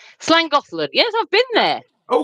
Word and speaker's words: Llangollen: It's called Llangollen. Llangollen.